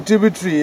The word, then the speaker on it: Tubu Tree: So that's in Tubu Tree, yeah? Rhymes with purgatory.